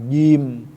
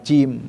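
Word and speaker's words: ج: dan sifatnya tepat ya, seperti pengucapan jim bukan cim ya, ini fi ji nah kan ji, nah ini kan terangkat lidahnya bukan ji beda kan, ji nirajim fi ji kan beda, jagung bukan cagung.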